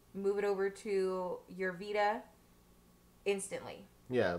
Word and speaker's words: Vita: Why not buy the PlayStation 4 and buy that little handheld, I'm going to pronounce it wrong, Vita? Vita. Vita. It's not a vitamin. It's not a vitamin. This isn't vitamin water.